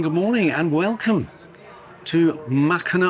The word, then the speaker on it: Mackinac: Good morning and welcome to Machina Island with a silent sea, isn't it?